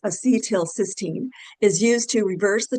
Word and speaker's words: acetylcysteine: So acetylcysteine which is pronounced acetylcysteine is used to reverse the toxic effects of acetaminophen overdose and prevent acute liver failure again.